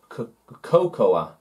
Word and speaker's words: cocoa: aisle a long corridor so to speak or cocoa cocoa cocoa cocoa it is the heat bean